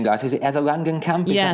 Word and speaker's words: Langenkamp: Is it Heather Langenkamp? Is yes, that how we pronounce her that's name? it. Yeah, Nancy. Heather Langenkamp, a woman who is literally out-acted by the